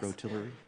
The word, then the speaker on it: Kimbroughtillery: So, by the way, is that how it's pronounced? Yes. Kimbroughtillery?